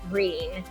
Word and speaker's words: Gruene: It's in New Braunfels, but everybody knows it as Green, which is Gruene.